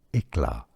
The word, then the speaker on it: éclat: Hang on, it's eclat ink. Eclat? Yeah. Éclat, éclat. The T is silent because it's French.